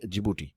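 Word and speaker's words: Djibouti: सा देश है ये जिबूटी, राइट। जिबूटी का जो कैपिटल है उसका नाम भी जिबूटी ही है, डी से इसका स्पेलिंग स्टार्ट होता है, राइट।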